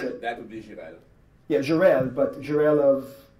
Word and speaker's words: Jirel: How would you pronounce it? That would be Jirel.